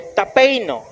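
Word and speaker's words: ταπεινόω: Y dice, "Cualquiera que se humilla como este niño, la palabra humillar viene del griego tapeino." Tapeino, así se pronuncia, y quiere decir bajar, ser humilde.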